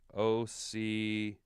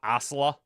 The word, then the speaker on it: Ocala: Pronounces it Ocala. Ocala? Not Osla.